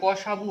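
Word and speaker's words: കസവ്: Sorry, আমি এখানে ভুলে, কসারু নয়, কসাবু হয়, উচ্চারণটা কসাবু।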